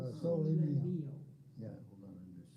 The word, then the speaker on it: O Sole Mio: I always pronounce it O solo mio, but it's No, O sole sole mio.